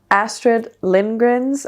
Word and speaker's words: Astrid Lindgren: like a collection of Astrid Lindgren's, I don't know how to say it with an English accent. In Danish you would say Astrid Lindgren.